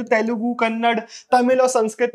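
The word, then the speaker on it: ಕನ್ನಡ: ने मुझे बताया कि कन्नड़ नहीं होता, कन्नड़ा होता, ऐसा कुछ तो भी उसने प्रोनाउंसिएशन दिया था।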